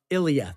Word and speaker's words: Ilya: Why am I saying his name wrong? Am I like? I think I'm having a stroke. Ilya.